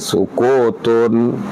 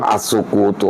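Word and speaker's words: سكوتٌ: Nggak ada alif lam berarti tanwin, sukutun. Makanya jangan ngarang-ngarang as-sukutu, orang nggak ada alif lamnya kok. Yahsunu Wa yahsunu dan baik juga. Wa yahsunu aidon dan baik juga sukutun diam al-mutakallimi orang yang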